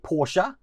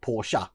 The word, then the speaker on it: Porsche: Yes, you heard me right, I did say Porsche, which is the correct pronunciation of it because it's the German pronunciation of it.